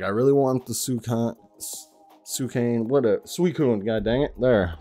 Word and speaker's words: Suicune: Like I really want the Suicune, god dang it. There, pronounced it right that time.